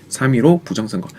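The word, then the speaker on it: 3·15 부정선거: 점 찍혀 있다고 해서 3.15 아닌가요라고 얘기하는데 이거는 점은 발음하지 않습니다 3위로 부정선화라고 얘기하시면 돼요 3위로 부정선거 중요한 핵심 단어였으니까 공부를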